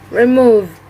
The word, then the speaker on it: remove: eighth word is remove the pointex of this word is remove remove the stress is located on the second syllable and the meaning of